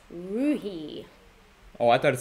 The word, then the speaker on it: Roohi: Roohi. Oh, I thought it said Rooney. Is it Roohi or Rooney? No, now it's Roohi. Yeah, it is Roohi.